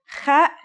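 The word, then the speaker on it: خ: Kha is a sound some people make when they laugh. It's also similar to the sound people make when they snore. According to phonetic charts, Ha is pronounced in a deeper part of the throat than Kha.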